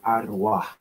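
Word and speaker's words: ערוה: It'll say v, but it's a wa. And the last character is a like a h. So the word that's pronounced is ara.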